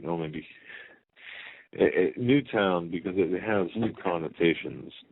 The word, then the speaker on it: Newtown: secondary place out of Newton, Connecticut. It's only a town of 2,000 people. We have to keep... Newtown, sorry. Newtown. We have to make sure we pronounce that right. No, maybe... Newtown, because it has new connotations to the name Newtown.